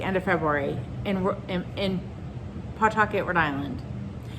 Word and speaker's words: Pawtucket: in pawtucket rhode island i said pawtucket but we don't really pronounce it pawtucket but i figured if you were not from the area and you were like oh i wonder where pawtucket rhode island is and you like tried to google it and i said it the way we pronounce it you may not find it which it's pawtucket but there's a w in there if you were like